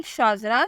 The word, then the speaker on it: SHAZRA: नाम है शाजरा, स्पेलिंग है SHAZRA।